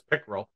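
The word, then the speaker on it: PICERL: recover, and lessons learned, there can be some fights about how to pronounce this abbreviation, but we refer to that as, or I refer to it as PICRL.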